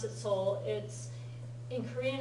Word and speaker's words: Seoul: じゃあ Yeah, the E in that Seoul is silent.